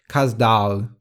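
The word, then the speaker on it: Kaz Dağı: course is the one in the story is pronounced in turkish kazdal both mount ida's were very important in mythology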